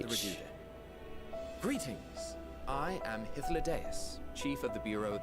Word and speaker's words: Hythlodaeus: I am Hythlodaeus, Chief of the Bureau of the Architect. Ah, that's how you pronounce it. Hythlodaeus.